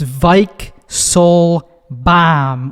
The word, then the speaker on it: Weichselbaum: is episode 11 and yes that is how you pronounce my last name it's vik soul bomb with a v i don't actually pronounce it that way in real life if somebody asks me how to say it in real life i just go it's like bomb which is hard enough